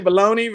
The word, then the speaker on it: Bologna: You're supposed to say baloney versus, but it's spelled Bologna.